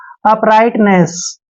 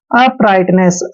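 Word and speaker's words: uprightness: आई जी एच टी जब भी टी से पहले जी एच आता है वो दोनों ही साइलेंट होते हैं ध्यान रखना है टी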